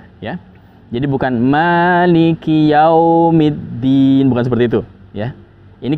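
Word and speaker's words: مالك يوم الدين: Liki itu pendek ya. Kadang sebagian orang membacanya maliki yaumiddin ya. Dia bertahan di huruf kaf. Dan ini sudah memanjangkan dan itu akan mengubah makna dari ayat tersebut. Itu kesalahan fatal ya. Maka kita pendekkan.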